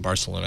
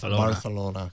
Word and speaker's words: Barcelona: February 25th uh in Barcelona as we said Barcelona you got to say it correctly barcelon Barcelona thank you for the